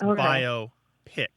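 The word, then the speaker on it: biopic: like like a movie so it divides the syllables divide between the O and the P so it's bio p yeah it would be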